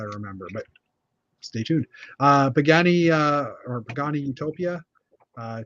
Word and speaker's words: Pagani: on Jeff's Jeff's pronunciation in Italian you pronounce every letter so it's like and you got to say it's like Pagani you gotta say like it's a pasta uh I I would